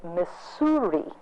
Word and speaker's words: Missouri: He said, when I was a boy, I had a teacher from Boston, and he taught me to say Missouri.